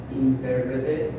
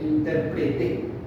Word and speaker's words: intérprete: Fíjate que acá inter intérprete intérprete intérpreté. Sí, te das cuenta que el donde recae la voz tiene mucho que ver